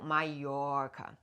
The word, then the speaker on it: Mallorca: So the correct way would be a double L is always a J, like a Y. So Mallorca. And 1 L is always an L, like tequila.